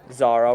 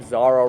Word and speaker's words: Xara: Yours ever faithfully, Zara Rollo. And that is spelled Xara space Rollo.